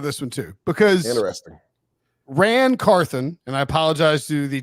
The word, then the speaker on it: Ran Carthon: I mean, that's a tricky pronunciation one though. Because Carthon sounds like Ron, and then but Ran Carthon.